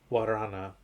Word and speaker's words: Guarana: Guarana. Yeah, GU is whatever. pronounced like a W, like guacamole. Like you don't say gua. Interesting. Yeah, it's wa.